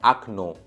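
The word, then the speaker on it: окно: अब दूसरा वर्ड देखते हैं अखनो। तो इसमें पहले ओ पे स्ट्रेस नहीं है, तो वो ओ आ जैसा प्रोनाउंस हुआ, रिड्यूस हो गया, ओ से आ बन गया, तो इसको बोलते हैं वावेल रिडक्शन, जैसा कि मैंने कहा।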